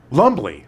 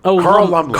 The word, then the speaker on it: Lumbly: Um, Lumbly. Lumbly. Carl Lumbly. Carl Lumbly. Yeah. Carl Lumbly. Lumbly. Lumbly. I think the B is silent.